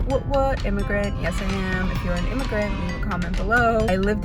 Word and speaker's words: Eman: name my name is but correct pronunciation of my name like if you want to say my name properly the Egyptian Arabic way of saying my name is a man what is your middle